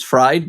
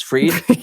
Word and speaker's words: Fried: And Sierra, a lot of people spell my name B R A I N for some reason, and they pronounce my last name as Fried, but it's Freed.